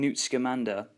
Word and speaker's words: Newt Scamander: Also, another interesting addition is the inclusion and exploration of the Fantastic Beasts, seeing Newt Scamander, that's how you say it, and his interactions with these creatures and his pure love for these animals.